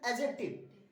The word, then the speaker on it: adjective: In starting you can use adjective, but this is the correct pronunciation, adjective. Owner d is silent, adjective or adverb.